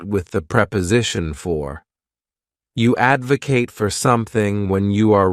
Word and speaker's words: advocate: syllables and the stress is on that first syllable Advocate to Advocate means to show strong support for